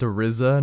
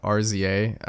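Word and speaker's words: RZA: uh I'm stupid uh his name is actually pronounced arizza not RZ um I'm dumb sorry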